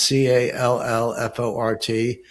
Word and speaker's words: Callfort: It's spelled like it sounds, CALLFORT, one word.